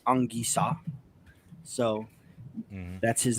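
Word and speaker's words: Anguissa: french you know the the proper pronunciation of his name is angisa so that's his name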